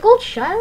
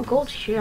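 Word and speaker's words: Goldshire: Is it gold shire or gold shear? I don't know. I keep hearing it pronounced differently all the time. I say gold shear because I'm British, innit?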